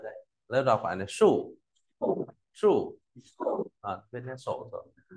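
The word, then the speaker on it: 竖: Nét sổ thì đọc là sủ. Đây, trên này có trong quyển bảng bộ nhưng thiếu mất cái đấy. Lớp đọc phải là sủ.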